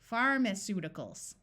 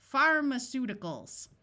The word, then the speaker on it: pharmaceuticals: what do you do try schw it Pharmaceuticals notice the a takes on the muffled schah sound of H or I here's the prefix pro